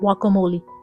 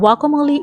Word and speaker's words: guacamole: By the way, guacamole is spelled with a G in the beginning but it is pronounced with a W sound in the beginning of the word. This guacamole was a kicker because